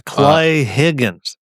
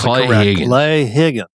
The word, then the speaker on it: Klay Higgins: Uh name is Clay Higgins. Got to pronounce Klay Higgins.